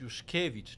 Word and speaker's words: Juszkiewicz: like my name is Juszkiewicz, not Juszkiewicz. Yes, Juszkiewicz. And when Everybody when you repeats. put the accent right, it's easy to Juszkiewicz.